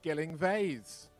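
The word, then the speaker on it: Gyllyngvase: So the situation is the club that you cannot pronounce. So the club is from Cornwall in the UK, not Wales. We're not Welsh, jeez. So, and the club is called Gilling Vase.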